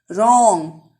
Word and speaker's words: wrong: Wrong, W silent.